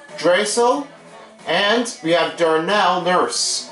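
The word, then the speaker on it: Draisaitl: mcdavid leon drastile tulle i'm forgot how to pronounce that it's drazel and we have darnell nurse on the edmonton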